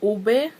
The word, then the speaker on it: ube: I'm like on the last video I uploaded, and you guys were telling me that oob is not pronounced oob, it's pronounced like ube.